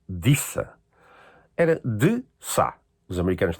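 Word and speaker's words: Desa: Há um nome que eu também acho muito interessante, que é um D-E-S-A. Pronuncia-se Dissa.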